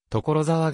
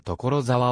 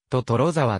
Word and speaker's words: 所沢: 知人の少女が所沢をトトロざわと発音していたことに由来する